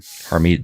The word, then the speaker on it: Harmeet: controversial as Amber Rose, was how do you pronounce her first name? Harmeet Dillon.